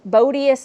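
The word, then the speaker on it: Bodeous: story around it but his name was supposed to be bodacious legacy. It's spelled Bodius Legacy. So B O D E O U S. Bodus Legacy.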